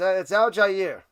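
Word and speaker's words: Allgeier: Yeah, it's Al-Jair. I like to call him Algie because it's just easier. The Al-Jair, that extra syllable, when I'm talking fast, it's annoying. So Algie instead of Al-Jair.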